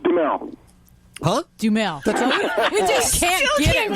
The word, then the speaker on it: Duhamel: We welcome him back the second time to Animal Radio Airwaves, Josh Duhamel. Hey, Josh, how are you doing? Hey, it's Duhamel.